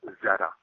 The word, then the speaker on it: Xeta: Originally, and their home planet it's spelled Xeta, which is pronounced Zeta.